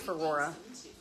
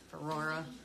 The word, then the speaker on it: Ferrora: Her name's pronounced Ferrora, but we just call her Rory. I think I've only called her Ferrora like a couple times. It's like Ferrora, but yeah, exactly, like Aurora with an F.